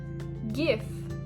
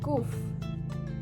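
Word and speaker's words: גוף: Gif. This is the Yiddish pronunciation of the Hebrew word guf.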